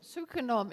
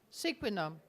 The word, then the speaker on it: Sequenom: goal Charles Canter from sucom is that the way you pronounce that squin so the accent is on the last Sy non-invasive per personal genomics